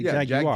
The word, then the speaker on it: Jaguar: They said the British say Jaguar.